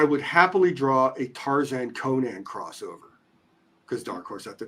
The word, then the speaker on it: Conan: I go I would happily draw a Tarzan Conan crossover because Darkhorse at the time had both and lever goes first thing he goes no it's it's pronounced Conan which you know I I'll never say it